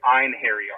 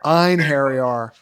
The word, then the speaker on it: Einhari: from Delta 9 was let me see if I could pronounce this right inar. Is that correct? That that's about 95% spot on here. It actually comes out to Einhari. Einhari.